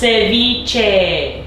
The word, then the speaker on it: ceviche: camera say you're lying it's pronounced ceviche this girl cannot get